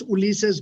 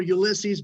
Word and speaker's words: Ulises: My name is Ulises. I'm actually pronouncing it the way Hispanics would do it. In America, it's more Ulises, but I always go back to my roots.